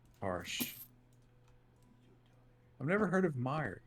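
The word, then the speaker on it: Meijer: new dune movie harsh i've never heard of meyer it's actually not spelled like that neo video it's m-e-i-j-e-r it's just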